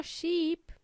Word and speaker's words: sheep: ship there are no sheep in the Space Sheep with a long e sound means OA in Spanish